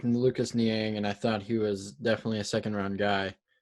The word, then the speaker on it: Lucas Niang: I almost said his name wrong, so let me Lucas look in Niang, it. right? Lucas Niang, Niang.